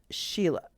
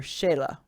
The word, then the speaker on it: Shelah: And then Sheila. Or Shelah. Depends on how they pronounced it.